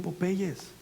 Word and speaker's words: Popeye: leche para el crecimiento, para que se pongan bien Popeyes.